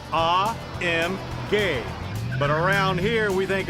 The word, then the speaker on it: AMG: AMG well we're told the proper German pronunciation is ah M gay but around here we